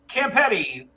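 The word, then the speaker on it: Campiti: Dave's Campetti rhymes with spaghetti.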